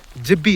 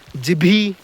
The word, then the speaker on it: जिब्बी: इस जगह का नाम जिब्बी है, जिब्बी, जिभी नहीं है, जीभी नहीं है, जिब्बी है।